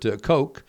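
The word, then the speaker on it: Koch: to Utah after that 1882 German scientist Robert kooch it looks like cootch but it's k c k ko CH that's how they pronounce it uh he announced in Berlin that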